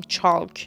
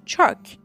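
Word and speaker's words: chalk: اون گچ میخوره بچه‌ها توی کلمه چاک ال سایلنت هستش و تلفظ نمیشه نمیگیم چال میگیم چک یعنی یعنی یعنی فقط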